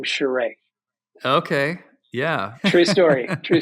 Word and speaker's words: Charest: It used to be Charest, and then when he started at Wildstorm, he discovered his French Canadian roots, and it became Charest.